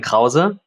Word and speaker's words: Krause: there yeah so uh my name in German is kower um so we just pronounce it a little bit more harshly we pronounce all of the letters uh very clearly in German which is why you